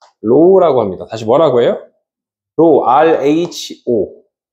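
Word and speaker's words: ρ: 또 하나 재질에 해당되는 거 로우라고 합니다. 다시 뭐라고 해요?로 RHO 다시 뭐라고 해요? RHO로 읽는 값으로 얘는 뭐라고 읽는다고?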